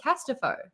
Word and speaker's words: Casterfo: Also, I want to get the pronunciation because in the audiobook she says Casterfo, but you said Casterfo. It is Casterfo.